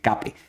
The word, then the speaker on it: CAPE: Ahí dice CAPE, se pronuncia el CAPE, significa el Cyclically Adjusted Price Earnings, es decir,